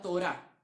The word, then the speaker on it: Torá: libros de la Biblia, la Torá, como suena, Torá, como una Tora, pero con acento en la Torá, o el Pentateuco, los